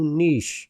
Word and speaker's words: niche: your topic so go Niche and again I'm not saying Niche go Niche because it's spelled n-i-c-h-e not n-i-t-c-h go niche and focus